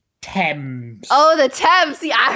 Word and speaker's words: Thames: The Dames. Yep, that's another one you butchered. Okay, what is it? Thames.